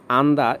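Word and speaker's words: 앉다: অথবা কাঠি আন্দা বর্ষা আন্দা এখানে নিচে জিউতের উচ্চারণটা হবে না আন্দা অর্থ বসা খুরুদা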